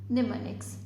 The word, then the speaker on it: mnemonics: Hair M is silent, that's why we will just pronounce this as mnemonics.